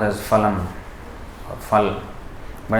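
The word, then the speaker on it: फलम्: You know, in this verse, this word, in Hindi it is usually pronounced as phalam or phal, but in Sanskrit the F sound is not there.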